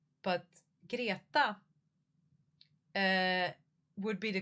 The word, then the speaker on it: Greta: Greta, but girata uh would be the correct pronunciation.